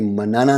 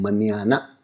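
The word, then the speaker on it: mañana: जी हाँ, जो एन के ऊपर अलग अलग सा सिंबल है, इसका प्रोनाउंसिएशन न्या होता है, NYA। तो ये मनाना नहीं है, ये है मनियाना।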